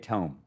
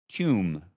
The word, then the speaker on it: tome: JMD tome. Not pronounced tomb for some reason. People call it they they call it uh tomb all the time. To I have no idea why, but tome a book, right?